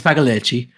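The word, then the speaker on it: Pagliacci: Yeah, it's Paleichi.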